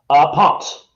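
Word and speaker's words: Pontz: Ponce. Ponce, okay. Ponce. Yeah. They pronounce the Z part of an S, you know.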